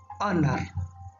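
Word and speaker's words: honour: o u r here the word begins with h but it pronounced honor that's why we use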